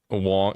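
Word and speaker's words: Huang: to bed that Jensen's Wong, like Wong, you know, the Jensen Wong. I was thinking Wong was spelled like Juan, like Spanish Juan.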